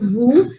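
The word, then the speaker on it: vous: happening with vu also even though it's ending with the letter s but since it's the last letter so we won't be pronouncing it so it is this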